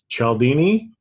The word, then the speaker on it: Cialdini: And so I became aware of, Bob Chatt, I always mispronounce his name, Cialdini.